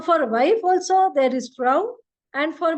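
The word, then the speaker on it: Frau: for FR so for wife also there is frow and for M if you are uh calling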